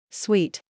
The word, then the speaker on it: suite: But now you will know because this word is pronounced exactly like the dessert that you eat after your lunch, and it's sweet, sweet, sweet. Let's listen to it. sweet, sweet, sweet, sweet, sweet, sweet, Now you say it.